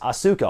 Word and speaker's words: Asuka: interesting point about lioness Asuka is the fact that her name is spelled like Oscar the Oscar we know today but it is pronounced Asuka all three syllables yet the sides of